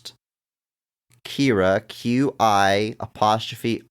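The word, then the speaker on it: Qi'ra: I think it's pronounced it says Kira's name is pronounced quotation marks Kira Q I apostrophe r a doesn't give me phonetics it just says in parenthesis KY AI is the worst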